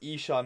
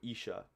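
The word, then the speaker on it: عشاء: Isha, not Aisha. Yeah, I'm so bad with all the pronunciations. I gotta learn that too. Isha.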